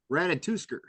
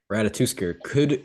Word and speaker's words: Ratatoskr: How do you pronounce his actual name? It's Ratatoskr. Ratatoskr.